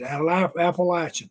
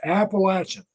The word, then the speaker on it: Appalachian: office and told me taught me how to pronounce Appalachian this is Appalachian latch Appalachian and now then is all say AB state